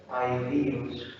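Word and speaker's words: ἀΐδιος: Si es un hiato, entonces ¿cómo tengo que leerlo? Aidíos. Aidíos. ¿Cuántas sílabas? 4 sílabas. Entonces miren, aquí yo tengo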